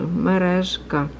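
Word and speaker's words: мережка: That's actually J letter up there, because I guess they couldn't figure out how to put this word in English to write down, so put the letter J, but it's actually merezhka.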